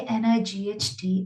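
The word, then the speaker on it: knight: loud the word k n i g h t is pronounced as night because K is silent your answer should be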